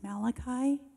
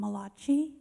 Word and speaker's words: Malachi: person in the story his name was Malachi but I didn't know that was how you pronounced it so I called him Malucci and they just really